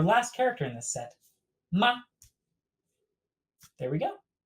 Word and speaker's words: 吗: looking at our last character in this set ma there we go pronunciation borrowed over however notice not has no